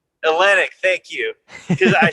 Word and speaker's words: Olynyk: Kelly Olynyk? Olynyk, thank you. Because I spell it in my head, and I'm like, I'm not going to say that right.